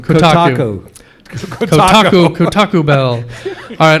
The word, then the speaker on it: Kotaku: According to Kotaku. Kotaku. I go to that site all the time, and I always pronounce it wrong. Kotaku.